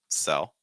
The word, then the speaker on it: sell: here so we have cell the verb cell cell dark l sound at the end I'm doing that to